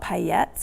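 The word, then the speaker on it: paillettes: slightly larger sequins um I think they're called payets or that's spelled palettes but I'm pretty sure that's not how you pronounce it it's a French word um they're the flat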